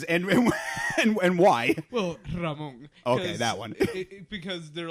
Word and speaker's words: Ramon: Like they can't roll the R or what?